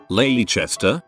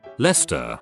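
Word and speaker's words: Leicester: Lester comes to mind. Ley Chester. Nope. Lester.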